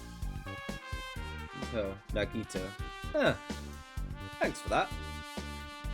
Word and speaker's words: Nagito: office nah g if you're curious is the pronunciation oh nagito thanks for that aren't i awesome praise